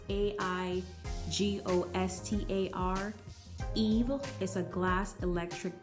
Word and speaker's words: Aigostar: I believe it's pronounced either Aigostar or Aigostar. It's Aigostar.